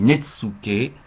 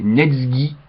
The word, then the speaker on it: Netsuké: chinois tiré du recueil netsoue évidemment ça s'écrit netsou mais René Vivien nous signale qu'il ne faut pas prononcer ainsi mais neg alors bon donc de